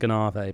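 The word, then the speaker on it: Gonâve: I believe it's called Ganave, pronounced Ganave.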